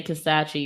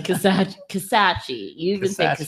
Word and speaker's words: Kisatchie: even when he say Kisatchie you're pronouncing it wrong yeah I know that's why I want to say Kisatchie statutes Kisatchie it's a National Forest